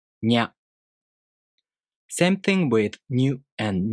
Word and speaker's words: nya: To pronounce Nya, you first make the tongue position of the ni consonant. Then the tongue moves into position for the a vowel. Nya.